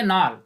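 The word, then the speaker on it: Knoll: order palazzo है तो किस जो है यह साइलेंट है इसको हम प्रनंसीएशन करेंगे नाल नाल और रास्ता दोनों ने 1940 फ्री में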